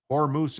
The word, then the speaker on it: Hormuz: Hormuz is correct. That's how I pronounce it.